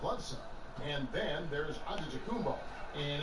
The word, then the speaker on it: Antetokounmpo: In the real way, you gotta say it with a D, so it's Antetokounmpo. But in the Greek way, you say it with an NT, like Antetokounmpo.